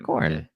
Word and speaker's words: Khorne: Which is Khorne. Khorne. Okay. Yeah, I've heard of him. Spelt with a K.